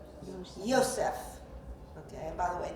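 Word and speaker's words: יוסף: see and for example in Hebrew Joseph appears in it pronounced how Yosef okay and by the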